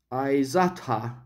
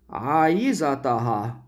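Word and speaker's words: عايزاها: Notice again a very important feature, that the stress shifts to the next to last syllable. That's again a very important in Egyptian Arabic, that's almost a must. So your speech sounds Egyptian Arabic when it your the stress is almost always on the next to last syllable. Aizatha instead of aizataha.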